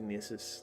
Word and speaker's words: Gnisis: I think Yeah, I they think it's pronounced Nissus.